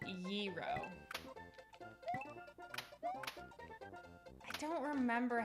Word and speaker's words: gyro: So it's pronounced gyro.